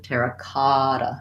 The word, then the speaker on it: terracotta: get that correct pronunciation terracotta terracotta these two t's uh are go together like a d sound or a flap t kara not kata but